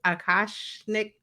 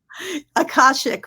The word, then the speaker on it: Akashic: you're welcome um what uh what are aash aashik records did I say it right akashic records akashic records so um in in the